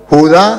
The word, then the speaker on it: Judá: Y me buscó en el Antiguo Testamento donde decía, y al final Judá será salvo. Y él leía Judas, al final Judas será salvo. Le dije, no hermano, aquí dice Judá, tiene acento en la ignorancia, es atrevida